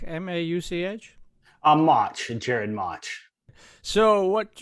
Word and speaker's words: Mauch: unmute there uh and uh it's is it pronounced mark m-a-u-c-h a march in jared march so what you're going to